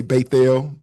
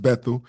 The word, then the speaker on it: Bethel: Um when we say uh we say beel, that's not so unusual, but that's usually pronounced Bethl.